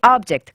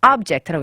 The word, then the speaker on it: object: 내가 거기에 순응하지 않았다 할 때는 동사기 때문에 object 뒤에 강세가 와요. 뒤에 네. 모음에 근데 to the object 그 목표에 네. 그러니까는 object라고 읽어요.